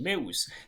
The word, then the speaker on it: meu: start with the pronunciation me think of the month May and the word oops then try connecting the two dropping the P in oops may and the stress is on the first syllable which is May it's my in English.